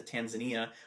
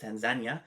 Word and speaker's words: Tanzania: And actually when I went to Tanzania, which is actually pronounced Tanzania, eight people on one bed and it's not even a hospital bed.